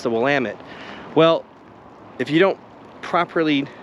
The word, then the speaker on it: Willamette: we call it the Willamette River right it's Willamette damn it there's a whole t-shirts for about that it's not the Willamette it's the Willamette well if you don't properly uh craft your